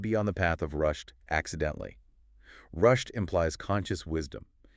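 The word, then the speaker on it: rushd: The sources define two distinct paths, rushed and gay. Let's break those down. Rushed. It sounds like the English word rushed, but I assume it means something totally distinct.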